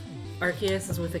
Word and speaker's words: Arceus: the record um and i used to say arseis because that just seems natural to me that is hi night